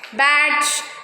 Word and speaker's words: badge: Next, D is silent before the letter G, like edge, badge, knowledge.